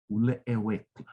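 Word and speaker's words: ulecheukl: However, there's another word in Palawan that is pronounced ulewekla, U-L-E-C-H-E-U-K-L, which means to hold something behind you, to be hidden.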